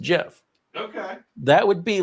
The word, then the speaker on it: GIF: The guy who created it says it's pronounced Jeff.